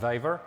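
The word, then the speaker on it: Vavr: the the waiver library i was not sure how to pronounce it but it turns out that someone put a correct pronunciation of soundcloud and it's waver so so this is the library waver brings a lot of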